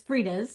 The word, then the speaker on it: Frieda's: owner and CEO of Fred Especially Produce based in Southern California. Hopefully, I pronounced all that correctly. No, you did not. It's Freda's. Freda's. Okay. Freda's. That's my mom's name.